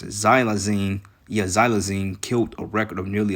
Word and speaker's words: xylazine: into their stumps it says uh how you pronounce it xylazine yeah xylazine killed a record of nearly 107 000 people in the U.S in 2021.